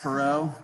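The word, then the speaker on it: Perrott: awesome um say his name again max prax perot p-e-r-r-o-t-t okay and he did the sideways glance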